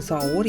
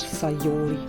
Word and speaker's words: Sayori: Ich habe den Namen irgendwie letztes Mal immer dauernd falsch ausgesprochen. Saori habe ich immer gesagt, anstatt Sayori. Entschuldigung, Mädchen.